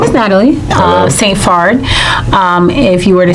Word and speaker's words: Saint-Phard: Um my name is Natalie uh St. Farard. Um if you were to say it in Haitian Cre. So that's how you pronounce it in Haitian Creole.